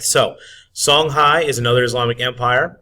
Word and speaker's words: Songhai: here on the map Sanai even though it's spelled a little differently is the eastern part